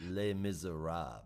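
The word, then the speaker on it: Les Misérables: my score hey Frenchie you know that you pronounce it Le miserab right yeah maab doesn't have the r and the end of it it is also a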